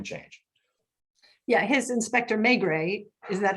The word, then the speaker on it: Maigret: Yeah, his Inspector Maigret, is that how you say it?